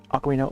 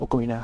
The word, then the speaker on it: Ocarina: how Ocarina of Time Ocarina Okarina, how do you want to pronounce it? Um I I used to just always call it Ocarina, but like I think uh over the years I I've come to try to pronounce it as Okina.